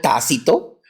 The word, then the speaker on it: Tácito: futuro tampoco por favor se llamó T con acento en la a Okay bien específico tácito y otro que se